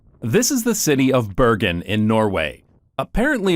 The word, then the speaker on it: Bergen: this is the city of Bergen in Norway apparently it's pronounced more like ban in Norwegian but I'm not going to try